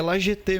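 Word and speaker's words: La Jetée: Eu pesquisei, Goiás, é La GT mesmo, cara. É O Pier, né? A pronúncia é GT mesmo.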